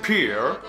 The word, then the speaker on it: Pierre: The city is called Pierre. Pierre. You Americans say Pierre, I think.